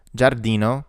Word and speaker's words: giardino: a g sound, ice, giardino, such as in job in English, hamburger, the H sound is silent in Italian.